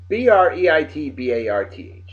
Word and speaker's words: Breitbarth: How do you pronounce it? Breitbarth. Breitbarth? Is it Breitbarth.